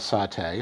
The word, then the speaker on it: saté: sauce then there's a Vietnamese condiment sauce called saute spelled this way s-a-t-e with an accent which is made from